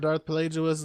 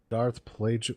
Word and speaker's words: Plagueis: talked about Darth Plagueis the Wise. Darth Wait. Plagueis the Whoa, Wise hold was- on. Say that again, Jeff. I think we just blew Todd's mind. Say that again, Jeff. Darth Plagueis.